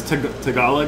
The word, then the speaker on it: Tagalog: I butchered the shit out of it. Philippines. Yeah. It's Tagalog.